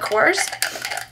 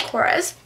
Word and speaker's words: Korres: which is funny because in other videos when I've talked about the korres lip butter I call it coarse but apparently I've been saying it wrong my whole life so it's called korres and it's a Wild